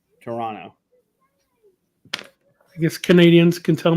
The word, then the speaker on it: Toronto: Pronounce the second T. Toronto. Toronto.